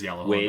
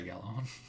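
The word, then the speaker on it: Gjallarhorn: It is Yalahorn, but people say Galahorn.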